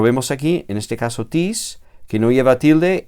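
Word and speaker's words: τις: Esta palabra, tis, es enclítica. Enclítica. Y eso significa que se pronuncia normalmente con la palabra anterior y su acento recae sobre la última sílaba de la palabra anterior.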